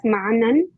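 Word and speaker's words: معنًى: So So it is pronounced as ma'nan. That is having a tanween at the end.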